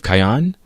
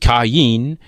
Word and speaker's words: Kayin: "These sons of Kayan?" Theo asked more. "It's pronounced Kayin, but yes, I'm glad you decided to call," the other man replied.